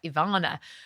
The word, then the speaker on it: Iwona: So I was doing my master's training and we have an amazing lady called Ivana, but her name is spelled Iwona, right?